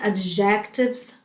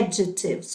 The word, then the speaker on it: adjectives: a muita gente pronuncia a de jaquetas mas não é a pronúncia correta é é de seus com sílaba tônica na primeira sílaba at peace e por